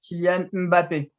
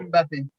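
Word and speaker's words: Mbappé: You the pronounce of the M, you just say Mm. Mbappe. Mbappe. Oh my God! I got it. I got it. It's kind of like the NG sound in our dialect.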